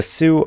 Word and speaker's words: Sioux: So the Sioux are it's spelled S-I-O-U-X.